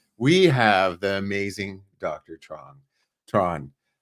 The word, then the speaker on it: Truong: have the amazing Dr Tron Tron the g is silent and my joke is